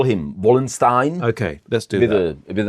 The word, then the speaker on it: Wallenstein: age, it is a guy called Albrecht von Wallenstein, or Albrecht z Waldsteina in Czech.